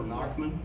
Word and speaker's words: Nachtman: It's Naucthman, okay. But it's spelled N-A-C-H. T-M-A-N. Okay. It means night man in German, so it's okay. Nachtman or Naucthman.